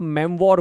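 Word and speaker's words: memoir: तो इसको ना आप मेमवॉर बोलते हो। ये देखो प्रोनाउंसिएशन भी याद रखना, मेमवॉर यानी मेमोरी बेस्ड स्टोरियां बताना।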